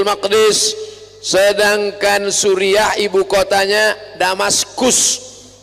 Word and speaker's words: Damaskus: Sedangkan Suriah ibu kotanya Damaskus. Tulisannya pakai C. Jangan bacanya Damascus.